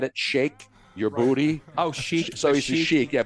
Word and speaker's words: sheik: Oh, sheik. So he's a sheik, yeah, but it's shake your booty because you pronounce shake when you're in the Emirates.